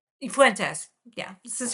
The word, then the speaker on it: Fuentes: York Times piece about Nick, how do you pronounce his name? Fuentes. Fuentes. Fuentes.